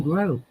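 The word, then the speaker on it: Greaux: you spell that Jonathan ah so it's spelled g r e a u x let's grow oh I'm just like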